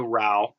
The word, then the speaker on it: Anita Rao Badami: Anita Rao, because it rhymes with how. I saw that. Badami. That's it. Anita Rao Badami.